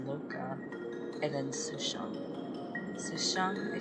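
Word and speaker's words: Luocha: Oh man, okay, so we're playing as Dunham again, and then we have, is it Loka? It's pronounced Loka, and then Sushang.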